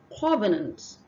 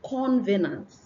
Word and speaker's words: covenant: All right, so the first one is covenant, not convenant.